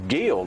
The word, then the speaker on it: Guild: And they were both from a really small town, Guild, I believe it's how it's pronounced, G-U-I-L-D, which is on the river.